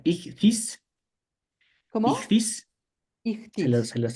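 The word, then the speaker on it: ἰχθύς: En griego esto se pronuncia ichthys.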